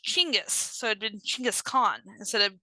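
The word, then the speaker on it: Chinggis Khan: Gingis Khan is actually a a European form of his name of Well, it's not even his name.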